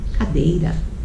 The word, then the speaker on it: cadeira: Cadeira, mesa, caráter. Vamos lá? Cadeira, cadeira, é o dei.